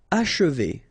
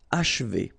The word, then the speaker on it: achever: Achever, okay? And then if you want to pronounce it the way French people will do, so don't insist too much on this and you will get achever, achever.